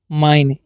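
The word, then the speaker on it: mine: एम आई एन ई तो इसे मिने नहीं इसे पढ़ना है आपको माइन एम आई है ना आई का पूरा आई करना है और एन ना लास्ट वाला का उच्चारण तो करेंगे नहीं क्योंकि दो कोंसोनेंट है सॉरी दो वोवेल है तो पहले वाले का करेंगे माइन मतलब होता है मेरा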